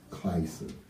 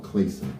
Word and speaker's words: Clason: Clason, or Clayson, depending on how you want to pronounce it.